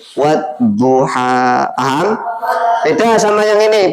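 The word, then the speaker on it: والضحى: Kalau al-samsiyah berarti huruf al tidak dibaca. Langsung wawunya masuk ke huruf dot. Wadduha.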